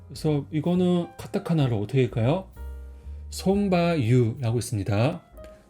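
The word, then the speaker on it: ソンバ油: 근데 일본어로는 손바유라고 읽어요. 그래서 손, 그 다음에 말마는 바, 기름은 유라고 읽어요. 그래서 이 바 같은 경우는 마하고 유하고 같이 읽을 때는 바가 좀 길게 읽어요. 그래서 손바유라고 있습니다. 그래서 위에 표기도 바가 길게 돼 있죠.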